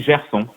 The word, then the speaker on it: Gerson: Par exemple, on dit Gerson, d'accord ? Pas Gerson, tu vois, c'est ni Dieu ni on, c'est Gerson.